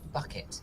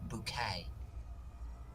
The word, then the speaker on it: bouquet: the same no no it's not pronounced bucket it's pronounced bouquet now you don't pronounce